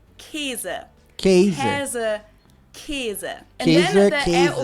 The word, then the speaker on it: Käse: Or the word for cheese that I personally and also many other people pronounce more like Käse than Käse, which is how it's spelled.